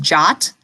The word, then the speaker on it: JWT: what the heck is the JWT frequently pronounced jot I've also heard it